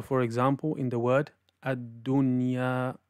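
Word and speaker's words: الدُّنْيَا: And also from the common mistakes is to mix it with a ghunna sound. So for example, in the word ad-dunya, ad-dunya, it should not be pronounced as ad-dunya,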